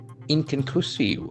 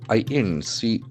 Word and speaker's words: inconclusive: Candidate remains inconclusive. INCONCLUSIVE. Inconclusive. It's a beautiful adjective. Inconclusive. Inconclusive. There are four syllables. Inconclusive. The accent falls on the third syllable.